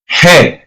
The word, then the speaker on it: ge: Then we have the letter G that is called and pronounced as he.